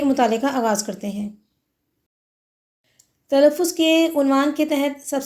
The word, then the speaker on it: تلفظ: وہ مفتوح کہلائے گا۔ مثلا تلفظ، اس کے الفاظ میں تے اور لام دونوں مفتوح ہیں کیونکہ دونوں پر زبر ہے۔ اسی طرح سے عمل،